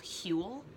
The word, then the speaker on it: Huel: meal replacement powder called Huell it's spelled like fuel but with an H instead of an F oh man I really